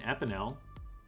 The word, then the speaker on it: Epinel: We can get an Epinel. Rhymes with Isabel.